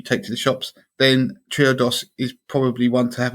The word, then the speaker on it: Triodos: is a bank called triodos so Trio dos so I see what they did exactly we before the show I saidy how do you say this but the clues in the actual yeah 32 um triodos